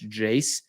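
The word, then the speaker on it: Jase: your first purchase remember that's Jace that rhymes with case and spelled like a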